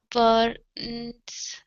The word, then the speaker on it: burned: for now The tears burned on his cheeks burning like fire Okay very good All right let's go to the word burned instead of burn Okay force your tongue down for the R sound Burned Burned Okay one